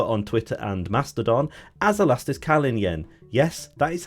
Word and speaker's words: Elastiskalinjen: also known over on Twitter and Mastodon as elastisk Callin Yen yes that is how you pronounce it I am sure Berry brother is